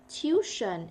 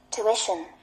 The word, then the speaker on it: tuition: You say this not tuition it's going to be tuition tuition it is actually um